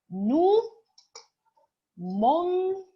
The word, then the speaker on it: mangions: le nous, on dit nous mangions. On n'a pas besoin. On n'a pas besoin de E. Parce que le G, I se prononce J.